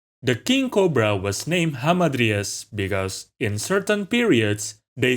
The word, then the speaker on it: Hamadryas: Hamadryas, or more commonly pronounced hamadryad by English speakers, are a type of dryad.